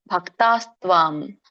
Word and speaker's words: ಭಕ್ತಾಸ್ತ್ವಾಂ: ಅರ್ಜುನ ಉವಾಚ ಏವಂ ಸತತಯುಕ್ತಾಯೇ ಭಕ್ತಾಸ್ತ್ವಾಂ. ಇದನ್ನ ಬಿಡಿಸಿದಾಗ ಭಕ್ತಾಹ ತ್ವಾಂ ಅಂತ ಕೂಡಿ ಭಕ್ತಾಸ್ತ್ವಾಂ ಆಗುತ್ತೆ. ಹಾಗೇನೆ ಕರೀರಿ. ಬಟ್ ಸಕ್ಕೆ 2 ಒತ್ತಿದೆ, ತ ಮತ್ತೆ ಒತ್ತು. ಸೊ 2 ಕೂಡ ಒತ್ತಿ ಹೇಳಲಿಕ್ಕೆ ಪ್ರಯತ್ನ ಮಾಡಿ.